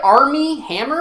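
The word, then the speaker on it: Armie Hammer: following will played by army hammer I think it's how you pronounce it and every time I say his name I think Arm & Hammer like the detergent will works at Rosie's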